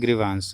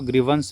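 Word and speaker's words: grievance: First में ग्रिवंस। ग्रिवंस का मतलब होता है इसको ग्रिवेंस पढ़ते हैं। बोलचाल में ग्रिवंस आप बहुत लोग बोलते हैं इसे।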